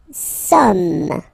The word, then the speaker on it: sommes: Nous sommes, okay? Nous sommes, okay? So you don't pronounce the final S here, it doesn't exist.